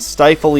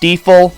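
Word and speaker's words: Stifel: I'm editing this and it's actually pronounced steifel Sumi I don't Bank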